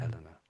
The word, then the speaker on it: Eleanor: Yeah, Eleanor.